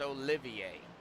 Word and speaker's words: Olivier: So Oliver is actually, his first name is actually pronounced Olivier. But I call him Oliver. I did look back. So, but it's pronounced Olivier.